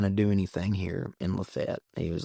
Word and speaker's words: LaFayette: Number two, it's Lefett, Georgia. Despite despite the fact that other people pronounce it, despite everywhere else, it's Lafayette.